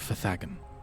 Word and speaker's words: Fagen: It is pronounced the maze of Fagen.